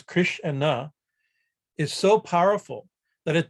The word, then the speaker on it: Krishna: as i'm saying to say the word krishna two syllables the two syllables kris and na is so powerful that